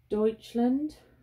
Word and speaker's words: Deutschland: I'm working on Josephine Wall Wisteria Moon off Diamond Painting Deutschland. That's how you pronounce it.